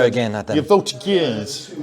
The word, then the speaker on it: voltigeur: voltigeurs.